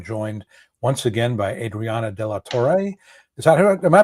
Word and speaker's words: de la Torre: This is Jonathan Ginsburg and today I'm joined once again by Adriana Delator. Is that am I pronouncing it correctly? Deator. Yeah, Delator.